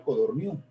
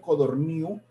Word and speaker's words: Codorníu: de 400 páginas, como Codorniu, Codorniu sin el acento en la U, acento en la U, no, sino en la I.